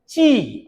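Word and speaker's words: qi: है और आपको मालूम है कि चाइनीज में जो वर्ड्स है उनमें चा की साउंड प्रोमिन होती है चा की साउंड बहुत ज्यादा बोली जाती है तो यह ची है क्यू का प्रोनंसिएशन इसका मतलब होता है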